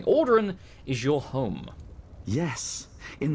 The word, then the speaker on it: Ald'ruhn: Dranoth wants you to know that our Ald'ruhn, pronounce it correctly, Ald'ruhn is your home.